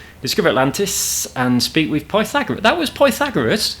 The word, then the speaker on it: Pythagoras: Discover Atlantis and speak with Pythagoras. That was Pythagoras. How did he pronounce his name?